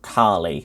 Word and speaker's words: Kale: There's a moon of Jupiter called Kali, but it's spelt Kale, Kale, and they put that in 47th place, which is nuts.